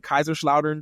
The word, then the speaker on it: Kaiserslautern: Yes, I was born in Kaiserslautern, Germany. Yeah, Kaiserslautern. Yeah, Yes. I didn't know how to pronounce that part, but I was like, wait, I never knew that.